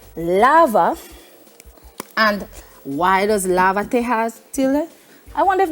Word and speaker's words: lávate: If I don't put a tilde here, or the accent right here, you would not get the pronunciation. So we want it to be lavate, yes, and not lavate. See, we want the stress. Right, we want to maintain the stress Exactly. where it was before we had this.